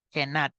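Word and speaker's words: Genant: la herramienta que se llama los grados de genan eh Así se pronuncia adecuadamente y pues solo se va a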